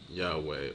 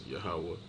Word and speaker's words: Yahawah: high so they have translations such as Yahweh or Yahweh which is a off Hebrew translation okay so yeah let